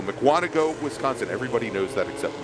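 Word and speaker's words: Mukwonago: Mark is out of Makawanago, Wisconsin. Actually, somebody gave me the pronunciation of that. Yes. Muano. There we go. Mcuano, Wisconsin.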